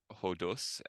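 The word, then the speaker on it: ὁδός: this Epsilon so that's the difference between hodos and where you pronounce that H in front um and we also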